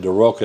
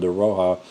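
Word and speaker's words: De Rocca: I've always said De Roca, and somebody told me the other day it's called De Roja.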